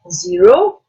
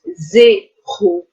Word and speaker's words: zéro: Not zero, but zéro.